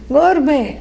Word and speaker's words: gourmet: Incidentally, it is spelled gourmet, but it is a French word. Yeah. So, gourmet.